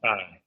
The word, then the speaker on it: Taye: get this right because I've been pronouncing your name wrong ta aru uh he is a documentary T like a Tai yep ta T Ru he is a documentarian